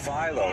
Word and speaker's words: Philo: to pronounce his name Milo Philo right like the dough crops with Milo right that certainly makes sense